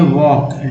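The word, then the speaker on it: walk: LK में L silent है, LM में L साइलेंट है, GN में G साइलेंट है और DG में D साइलेंट है।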